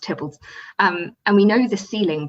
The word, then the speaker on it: Theobalds: I'd like the ceiling from William Cecil's house, Tybbalds, which is spelled Theobalds, but it's pronounced Tybbalds.